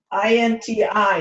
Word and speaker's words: Inti: INTI is the way it's pronounced.